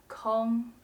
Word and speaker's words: 空: If we want to say a space is empty, we say kōng. For example, 这个教室是空的。这个教室是空的。Or 我的心空空的。我的心空空的。When we want to say something is not occupied or not be used, it is pronounced the fourth tone, 空。For example, 那台电脑空着呢，我们可以用。那台电脑空着呢，我们可以用。Or 你什么时候有空？你什么时候有空？